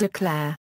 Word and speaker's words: Eau Claire: appears on the city seal the name is pronounced as if it was spell o Clair geography oakair is located at 44 a de